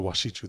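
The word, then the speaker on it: wašíču: The washichu, that's how you say it in Lakota.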